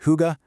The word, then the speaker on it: hygge: Pronounced hygge.